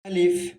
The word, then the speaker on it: ا: কিন্তু তারপরে এটাকে আমরা যেহেতু শিখছি প্রথম দিকে আলিফ হিসাবে ধরে নিয়ে আমরা শিখবো। তারপর আমরা বলছি এটা উচ্চারণটা হবে আলিফ, আলিফ।